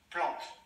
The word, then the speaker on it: plante: Я еще повторю, что е в конце не читается, а не читаете е в конце. Е, бутель, вер, плант.